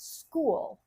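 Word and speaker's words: Skool: has formed this community on a platform called school it's spelled K O L and it's uh I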